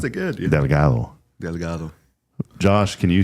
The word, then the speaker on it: Delgado: And when we try to say things like Delgado, but it's Delgado. Good morning. Brian Delgado. Welcome, you pronounced it good. Yeah. Delgado.